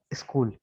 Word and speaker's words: school: इसके बाद स्कूल, ठीक है, SCHOOL, तो एच साइलेंट है, इस, ये सी की आवाज के वाली निकलेगी, स्कूल।